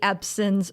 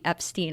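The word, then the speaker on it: Ebsen: to my podcast that I said buddy epson's name wrong I call called him buddy Epstein unfortunately on the yeah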